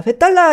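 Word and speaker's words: बेताल: 그래서 힌디는 보통 이 아로 끝나는 산스크리트어에서 마지막 아 발음을 빼주는 발음을 하기 때문에 이 벳달라라고 하는 이 단어도 벳달이라고 부르게 되죠.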